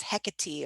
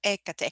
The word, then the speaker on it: Hecate: middle period magic is hecate or ekate however you want to say her name um you know in